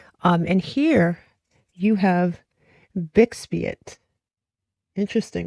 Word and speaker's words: bixbite: red beryl now, um, but it is, uh, bixbite. That's how you pronounce it.